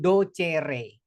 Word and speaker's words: docere: dari bahasa Latin docere ee pelafalan eh Latin itu letterl seperti tertulis ya.